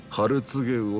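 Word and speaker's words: 春告魚: お客さん、それはね、ハルツゲウオって読むんですよ。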